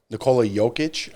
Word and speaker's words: Nikola Jokic: Nikola Jokic, I think.